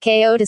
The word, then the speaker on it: Kyoto: Kyoto Kyoto Xi pronounced Ko2 pronounced Ko to CI UK US or is a city located in the central part of the island of Honshu Japan.